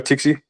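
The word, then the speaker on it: Txiki: is looking at tixie what was his name Tikki or tiie it's pronounced Tikki Tiki okay so maybe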